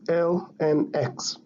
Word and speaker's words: ln x: most commonly written as ln x, that is lnx. This one is pronounced as ln x.